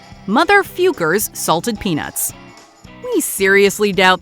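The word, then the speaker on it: Focker: But in their defense, the questionable word is pronounced Fukers.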